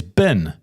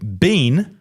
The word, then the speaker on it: bean: with an R, but you pronounce bean as bin. It's terrible pronunciation and reminds me of Jacinda. That's not a good thing. You need to pronounce it like bean that you eat, not bin that you discard rubbish into.